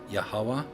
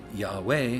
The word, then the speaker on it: Yahweh: Is it Yeh, like I pronounce it? As in Yeh, and Weh, as in Yet and Wet, because it's a Yod He Vav He, and it's E E U E, or is it Yahweh, where you put a